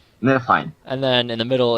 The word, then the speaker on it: Niflheim: I keep forgetting how to pronounce this one, but... Ice and fire. Yeah, it was Ice and Fire. Nilfheim. Niflheim.